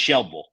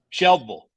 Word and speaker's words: Shelbyville: I would live there the Y is silent right It's Just shille sh yeah it's just Shel way say that one more time shille I like it Louisville